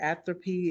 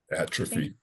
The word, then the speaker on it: atrophy: Atrophy. Atrophy. I pronounced it wrong the first time.